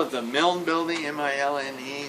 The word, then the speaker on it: Milne: it the Melon Building, M-I-L-N-E, spelled, and I assume pronounced the same way as A.A. Milne, who wrote the Winnie the Pooh books.